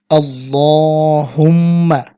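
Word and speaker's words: اللهم: সম্মানিত দর্শক, আপনারা আমার সাথে বলার চেষ্টা করুন আল্লাহুম্মা। এখানে এক লিপ টানতে হবে এবং এখানে গুণা করতে হবে।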